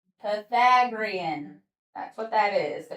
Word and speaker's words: Pythagorean: Yes, it's the Pythagorean. That's how you pronounce it. Yeah. So, hey buddy, say that word. So, everybody, Pagrian. Pythagorean.